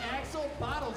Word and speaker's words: Axolotl-Bots: What? The Axel Bottles. I've been saying it wrong this entire day.